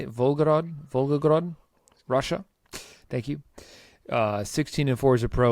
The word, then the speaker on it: Volgograd: Volgograd, Russia.